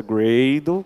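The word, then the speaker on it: Gradle: sistema de bild no Grau descobri que a pronúncia greydon que eu tive um copo americano falei gravou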